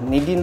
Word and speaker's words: Nadeen: Anak Baba kepada Nadine. Oh. So dia sebutan bukan Na, Ni. Nadine. Ejaan N-A tapi Nadine lah. Bukan selalu kan N-A kan Na kan. Nadine kan Nadine. Sebutan dia Nadine lah.